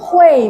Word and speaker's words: 慧: UI bacanya UEI ya. Jadi Hui ya benar. Wang Hui Mei.